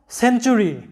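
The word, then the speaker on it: century: লক্ষ্য করো CENT Saint, অথবা CEN সেন, TURY চুরি। তোমরা জানো টির পরে ইউ প্লাস একটা সিলেবলের মধ্যে যদি টির পরে ইউ প্লাস অন্য কোনো ভাওয়েল থাকে তাহলে টি এর উচ্চারণটা চ এর মতো হয়। তাই এখানে টি এর উচ্চারণটা হবে চ এর মতো, TURY চুরি এরকম হবে, সেঞ্চুরি, সেঞ্চুরি।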